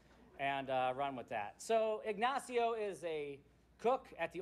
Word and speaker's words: Ignacio: I didn't look up how to pronounce this or how to say it, but Ignacio, I believe, is how you pronounce his name.